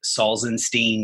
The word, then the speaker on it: Salzenstein: now movement and yeah my name is Saul's enstein that'sall Zim Steen and definitely gets mispronounced easily I can relate I can relate